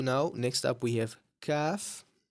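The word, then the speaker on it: ق: Now, next up, we have calf. CF is usually associated with a K in English, right?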